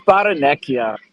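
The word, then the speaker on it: Barrenechea: Dash, it's Baranekia. Oh, wow. Is that okay? Because we've heard it pronounced every other way.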